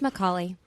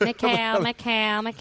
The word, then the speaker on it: Micale: It's Micale.